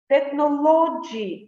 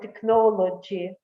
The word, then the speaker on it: technology: For example, they may say industry instead of industry, botany instead of botany, technology instead of technology, comfortable instead of comfortable, due to the stress